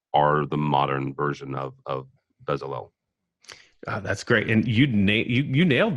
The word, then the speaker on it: Bezalel: Why do you think today's technical artists are the modern version of Bezalel? That's great, and you nailed the pronunciation there.